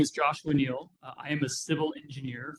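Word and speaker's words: Neal: spell your name yes my name is Joshua Neil and uh it's spelled j o s h UA my last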